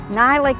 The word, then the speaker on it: Nylic: Nylic is spelled N-Y-L-I-C.